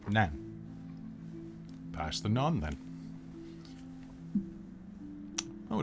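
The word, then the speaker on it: naan: pass the bread please none it's pronounced nan pass the non then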